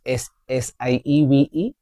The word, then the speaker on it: sieve: Do you know what is S-I-E-V-E? It is not sieve. It's sieve. This one. What I'm showing you. This one. Sieve. Here both E's are silent.